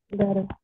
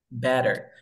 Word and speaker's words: better: Better. Better. ¿Por qué? Porque mira, el sonido de la T se repite. Elimino el primer sonido. Ahora me queda una T entre dos sonidos de vocal.